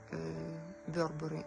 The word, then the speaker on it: Burberry: от модного дома Burberry Я как филология зверялась с правильностью произношения и вербары это правильная название модного дома и вот кардиган в